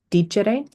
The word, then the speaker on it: dicere: conjugation verb would be dicere. This means to speak. So dare means to give. Habere means to have. Dicere means to speak. Again, we have a short E in front of the RE.